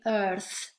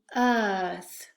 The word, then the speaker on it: earth: R we don't say earth earth okay in order to sound more natural it's so much better to make the vowel longer so you would do earth for example earth resource